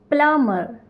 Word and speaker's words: plumber: plumber, plumber, and not plumber, because B is silent in plumber.